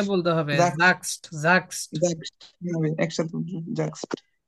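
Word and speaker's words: sagst: নাকি জাগস্ট একসাথে বলতে হবে জাস্ট জাগস্ট একসাথে জাক্সড জি ভাই আপনি এটা 10 বার বলেন তুমি বলো তুমি বলো ডু জাক্সড তুমি বলো ডু জাক্সড তুমি বলো ডু জাক্সড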